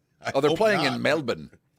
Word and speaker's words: Melbourne: Oh, they're playing in Melbourne. James Pledger just texted. It's not Sydney or Perth. It's the other one. It's Melbourne. Melbourne.